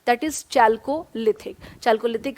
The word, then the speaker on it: Chalcolithic: भी इस्तेमाल हो रहा है, तो दैट टर्मिनोलॉजी, जो स्पेसिफिक टर्मिनोलॉजी श्वेताब इसमें जो इस्तेमाल होता है दैट इज चाल्कोलिथिक।